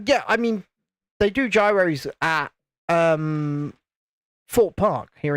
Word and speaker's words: Gyros: I mean yeah or aren't they pronounced Heroes by those who make them isn't that what uh